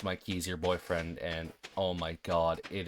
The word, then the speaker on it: Mikey's Your BF: It's spelled Mikey's Your BF, but it is pronounced Mikey's Your Boyfriend, and oh my god, it is...